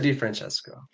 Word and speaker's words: DeFrancesco: DeFrancesco. Did I pronounce it right?